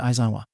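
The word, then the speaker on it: Aizawa: bag I am your home room teacher shouted isawa and yes that is how you say my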